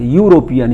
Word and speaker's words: European: ऐसे ही कहा जा रहा है कि ए यूरोपियन, यूरोपियन EURO से शुरू होता है स्पेलिंग, EUROPEAN, तो ई स्वर है लेकिन इसका उच्चारण किससे हो रहा है? व्यंजन से, यूरोपियन, यू या, इसलिए ए हो गया।